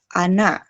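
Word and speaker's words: она: vokal atau silabel, terus huruf yang ditekan di akhir nih, di A. Huruf O, dia berubah jadi A, karena tidak mendapat penekanan. Jadi seakan huruf O-nya itu agak berkurang gitu, kadar O-nya. Jadi A dibacanya.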